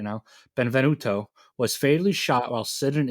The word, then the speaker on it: Benvenuto: Stand owner Francesco Frank B benv I can pronounce things right now Benvenuto was fatally shot while sitting in his car